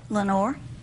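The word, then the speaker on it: Lenoir: mhm what's it called Lenor Lenor mhm like in the PO like in yeah the Raven Lenor it's not spelled the same way it's French it's French mhm the French have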